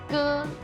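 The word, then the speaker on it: 割: Depois vamos ver o ge. Tem a mesma pronúncia do irmão mais velho, por exemplo, ge, mas usamos só uma vez e ideograma é diferente, então tem que tomar cuidado.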